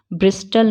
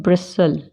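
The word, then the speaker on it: bristle: ब्रिस्टल नहीं बोलते, क्या बोलते हैं? ब्रिसल।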